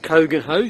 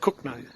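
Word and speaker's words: Cogenhoe: i should say the royal oak hotel in cook no it's built kogan ho c-o-g-e-n-h-o-e but it's pronounced cook name pubs closed until the fourth of july like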